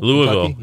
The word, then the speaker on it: Louisville: us and and uh in Louisville Louisville yeah that's how you say it by the way Louisville